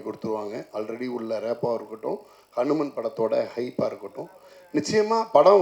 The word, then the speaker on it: HanuMan: love இருக்குன்னு சொன்னீங்க சார் நான் அனுமான் இல்ல சார் நான் ஹனு மேன் அதான் வரேன் வரேன் வரேன்